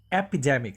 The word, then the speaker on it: epidemic: Our next word would be epidemic. So the stress is on the de.